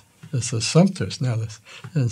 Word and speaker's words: Assumpta: And I kept telling him he's pronouncing it wrong. It's a Assumpta now. And he said, no, it's a Assumpta.